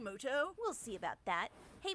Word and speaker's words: Muto: turn wait a minute is that yugi mudo actually his name is pronounced yugi moto we'll see about that